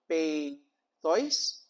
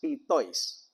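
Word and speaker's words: πειθοῖς: it with Erasmian pronunciation, peithois. But this is a case wherein in the Greek language, you have the development wherein epsilon iota is pronounced as E, not A. So it's also pronounced as pitois.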